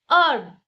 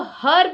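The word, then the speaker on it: herb: अर्ब एच ई आर बी अब। देखिए वो हम एच से स्टार्ट तो कर रहे हैं इस वर्ड को लेकिन हम इसको हर्ब नहीं बोल रहे हैं।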